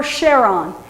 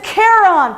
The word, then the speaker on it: Charon: these people then it's Kon because that's the correct Greek pronunciation if you know your ancient Greek so you're going to